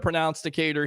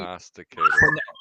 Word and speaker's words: prognosticator: Let me ask you, Harry, because you're the pronounsticator here, or whatever. Do you? Prognosticator. Did I say it wrong?